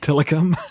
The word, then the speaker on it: Tilikum: not gonna pay you Tilikum it is ti Li ke um okay yeah I'm saying it right phonetically yeah yeah that's